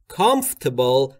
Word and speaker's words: comfortable: دقت بکنید اگر بخواید خیلی دقیقاً اونجوری که ایرانیزه است تلفظ بکنید میشه comfortable. که میشه چی؟ comfortable. خیلی ها میگن اما تلفظ درستش به این صورته comfortable. تقریبا آرش خیلی نامحسوس شنیده میشه.